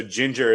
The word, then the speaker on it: Jinjer: Have you heard of Ginger? No. Okay, so Ginger, it's spelled Jinjer.